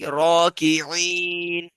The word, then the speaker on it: الراكعين: Stretch it like raki'in. Raki'in.